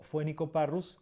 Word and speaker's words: Phoenicoparrus: Entonces tenemos ejemplos de la PH que se pronuncia como F. Por ejemplo, tenemos el Phleucryptes melanops o Phoenicoparrus andinus.